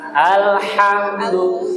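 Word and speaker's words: الحمد: Ha hi beda dengan ha alhamdu ya. Nah tuh ya Bapak catatannya di huruf H-nya. Abid. Bismillahirrahmanirrahim. Alhamdulillahiabbil alamin. Baik. Ah santa. Cuma ininya ee h-nya jangan ee tanaw berlebihan. Alhamdu biasanya.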